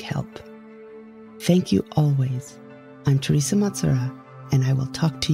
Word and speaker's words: Thersa Matsuura: All you need to do is search for Teresa Matsura. Let me spell that for you.